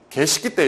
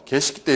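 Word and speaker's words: Geschichte: 자, 그 다음에 독일어로 과거에 일어난 일, 이게 참 여러분들 발음이 개식기 때 이렇게 있습니다. 그래서 독일어 발음 자체가 좀 그렇잖아요. 그래서 개식기 때 이렇게 읽고요.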